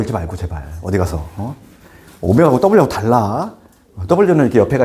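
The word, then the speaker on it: ω: 오메가 세제곱, W라고 읽지 말고 제발. 어디 가서. 오메가하고 W하고 달라.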